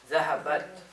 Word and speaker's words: ذهبت: Zahabat. Right? So you want to say zahabat with a sukun on the ta.